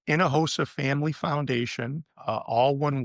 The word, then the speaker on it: Hinojosa: sure so we have a website um it's Inahosa family foundation uh all one word and uh my last name is spelled h i n o j osa it's